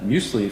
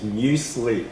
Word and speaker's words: muesli: and snowboarding, and had muesli for the first time at a snowboarding competition in Switzerland in high school. And the pronunciation is muesli. Muesli. Yeah. It's like mew, and yep. sli.